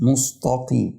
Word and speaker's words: المستقيم: ده برضو من المواضع اللي كتير بيغلط فيها بيقلبه قصاد بيقول نص مستقيم مستقيم هو والتاء اللي بعديه بينطق السين صاد وبنت او بين مستقيم فالتراب